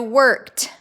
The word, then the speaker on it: worked: These words sound like a T is on the end. So it's spelled with an ED, but it sounds like T. So worked, stepped, liked, hoped.